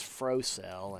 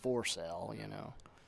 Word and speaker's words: Frocell: It's Frocell, and he's been calling himself Forcell, How much?